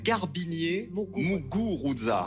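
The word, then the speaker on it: Garbiñe Muguruza: s'appelle Garbinier Muguruza. Ouais, Voilà, j'ai mal c'est une prononcé.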